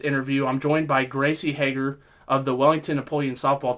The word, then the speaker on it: Hager: So no, it's Hager. I pronounced it right when she came on, but then I like the HA.